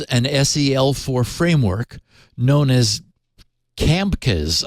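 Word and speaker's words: CAmkES: sel4 framework known as camcas I guess you'd pronounce it c-a-m-k-e-s to provide static what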